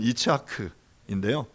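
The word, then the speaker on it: יצחק: 이삭의 이름의 이제 히브리어 발음은 이츠하크인데요.이 이츠하크도이 샤하크라는 단어에서 나온 파생된 그런 단어라고 말할 수 있어요.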